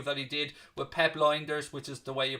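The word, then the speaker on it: Lijnders: I'll be chatting to him tomorrow about a recent interview that he did with Pep Linders, which is the way you pronounce his surname actually, in recently for the big interview with Graham Hunter podcast.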